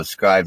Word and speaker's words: Scribd: It's spelled SCRIBD, so scribed without the E. It's just SCRIBD.